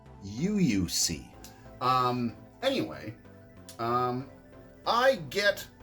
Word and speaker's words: UOIUXC: sponsored by um um i believe it's uuc i actually asked him how to pronounce this i was like oh my god how am i supposed to do a video if i can't pronounce this dang word i believe it is you you see um anyway um i